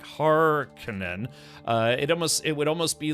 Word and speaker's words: Harkonnen: of like it maybe a little better pronounced Harkonnen, like Hard Conan, but, I read it like a Finnish surname, like, Raikkonen, like Kimi Raikkonen, right, exactly.